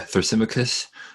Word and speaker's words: Thrasymachus: That's where Thrasymachos, I think you pronounce him differently in English. How would you say his name? Thrasymachus? Yeah, Thrasymachus.